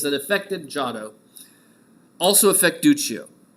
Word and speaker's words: Duccio: three-dimensional realistic style, is Duccio. Right? Italian pronunciations, you'll get used to them, right? An I after a hard consonant makes it soft.